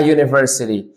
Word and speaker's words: university: in the word university this U is pronounced the same like its name University which is a consonant sound so you have to